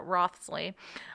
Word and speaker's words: Wriothesley: I'm pretty sure that's how you pronounce it, Wriothesley.